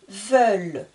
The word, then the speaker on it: veulent: il est au pluriel veulent n'oubliez pas je ne prononce pas le N et le t nous allons maintenant utiliser